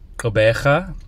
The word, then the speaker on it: Gqeberha: port elizabeth so i i believe it's pronounced kobeja i've been practicing i